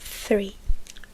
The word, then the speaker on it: three: a ser una diferencia Entonces el tres es three three three no three three porque tre es árbol cuatro Four cinco five